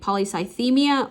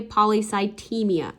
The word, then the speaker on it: polycythemia: PSI you can say polycythemia or you can say polycytemia both of those are appropriate pronunciations okay so how do